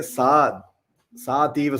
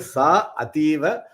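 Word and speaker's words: सा अतीव: But we'll say Sa Ativa Sumanohara, Sa Ativa Sumanohara. Sa means she. She. So that. Ativa means very, very beautiful. So even if you don't say Sa Ativa but Ativa Sumanohara, then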